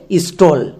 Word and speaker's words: স্টল: তাহলে স্টো plus all আমাদের একসঙ্গে দাঁড়াবে স্টল।